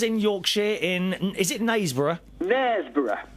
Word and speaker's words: Knaresborough: Knaresborough.